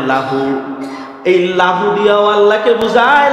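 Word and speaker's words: لَهُ: লাম আর হা আরবিতে উচ্চারণ হয় লাহু।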